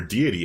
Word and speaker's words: deity: educated this week uh or deity as i'm supposed to be saying it but i'm like freaking so used to saying it wrong for so long that i still say it didi like almost all the time um but all right